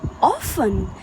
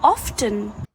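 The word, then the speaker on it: often: इस वर्ड में letter T silent होता है। इस वर्ड को हम बोलते हैं ऑफन ना कि ऑफन।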